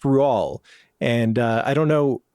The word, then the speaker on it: Roald: Uh, but apparently it's pronounced Ruall.